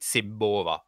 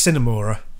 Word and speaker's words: Cinemora: But my favourite one, I played Simmora on the... Simmora? Help me pronunciation. Yeah, I think it's Cinemora. Yeah. Cinemora, there we go.